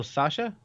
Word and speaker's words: Sacha: Oh, Sasha?